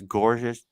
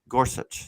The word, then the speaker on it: Gorsuch: recent on the the trump nominations uh justice gorgeous gorgeous gorsuch sorry i mispronounced his name but was 11-9 in the